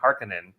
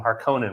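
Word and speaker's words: Harkonnen: Dune in theaters and they said harkenin and I've always called them harconan my whole life oh my goodness the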